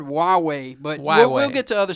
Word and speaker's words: Huawei: It looks like it's Hawaii. Hawaii. But it's called HUAWEI.